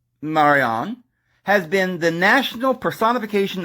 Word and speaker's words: Marianne: look at that Marianne Marianne pronounced Marion has been the national